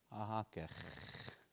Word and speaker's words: Ahakech: Ahakech. It's a guttural at the end on that one.